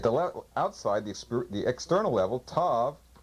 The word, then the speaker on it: tav: T, at the outside, the external level, tav, pronounced T, TH, TH, S. It could also have sometimes a TSE sound or an ST sound.